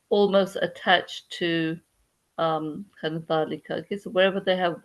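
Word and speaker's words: ذلك: this the is long, but we're supposed to pronounce that the as long. Okay, we don't say dhalika, we say dhalika, dhalika.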